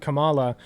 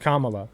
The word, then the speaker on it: Kamala: learned he's mispronouncing it I was pronouncing it Kamala it's pronounced Kamala dumbass so I'm sort of branding Pokémon go